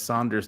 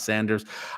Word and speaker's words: Saunders: He's saying my name is Saunders, not Sanders.